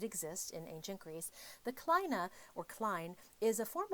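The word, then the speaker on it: kline: of the kismos chair gives us the Klein I've also heard this pronounced Kina now what we see here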